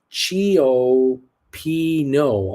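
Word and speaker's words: cioppino: Credit Services says it's pronounced Chio Pino, Uncle Bruce.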